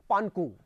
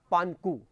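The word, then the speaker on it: Pangu: ये नाम है, इसका उच्चारण जरा जो लिखा हुआ वो उच्चारण नहीं है, पानकू। क्या उच्चारण है? पानकू।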